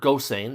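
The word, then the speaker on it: Gosseyn: It's it's got our main character, Gilbert Gossain, and it's important that you pronounce his name that way.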